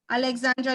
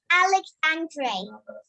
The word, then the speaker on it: Alexandre: does everybody understand that Alexandra do you understand yes but my name is but my name is pronounced Alexandre Alexandre okay all right the